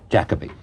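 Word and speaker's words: Jacobi: a thing in which I said Jacob being Jacoby is what's the correct pronunciation Jacoby uh he presented you after your performance on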